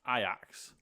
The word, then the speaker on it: Ajax: said but like for instance like the place i axe is ajax and that's pronounced iax ev right i don't know what you which